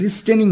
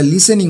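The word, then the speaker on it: listening: লিসেনিং to this, এটা শুনে, লিসেনিং মানে হচ্ছে শুনে, এটা লিস্টেনিং না, এটা লিসেনিং উচ্চারণ হবে।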